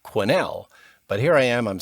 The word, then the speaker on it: Quesnel: It's a weird spelling, but it's pronounced Quesnel.